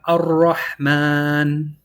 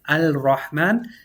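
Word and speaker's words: الرحمن: We have ar-Rahman. We see in Surah Al-Fatiha, we have the Alif Lam. We're wondering, why isn't it Al-Rahman? It's because the Ra has a Shaddah, making this a sun letter. So the Ra eats the Lam.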